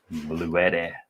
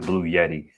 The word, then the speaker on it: Bluetti: Bluetti Bluetti I can't understand for the life of me people who pronounce it Blue Yeti. Like all these YouTubers are here saying Bluetti and you going to say Blue Yeti.